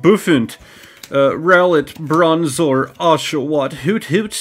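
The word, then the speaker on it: Bouffalant: So, hey, dude who loves Bufalant, I'm sorry for making fun of you, alright?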